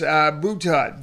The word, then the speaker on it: Boutot: Boutot.